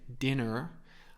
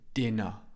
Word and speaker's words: dinner: dinner din dinner again I don't pronounce the r in British English I don't say dinner I say dinner my mouth is open